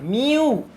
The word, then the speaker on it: μ: म्यू, M, pronunciation बता रहा हूं मैं आपको, MIU, म्यू।